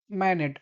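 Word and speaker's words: Manette: Alexander मैनेट, आप इनको मैनेट भी कह सकते हैं, मैने भी कह सकते हैं, प्रोनाउंसिएशन डजंट मैटर।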